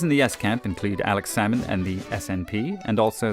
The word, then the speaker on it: Alex Salmond: The SNP leader, this man, Alex Salmond, you don't pronounce the L, like with the fish, became Scotland's first minister and promised a referendum within the election cycle.